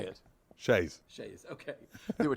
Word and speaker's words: chaise: Shays.